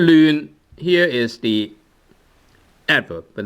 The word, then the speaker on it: 亂: And normally this word is pronounced as 亂. Which is fifth tone, but then sometimes you can use 亂 second tone. Right, so sometimes you can use second tone, sometimes you can use the fifth tone.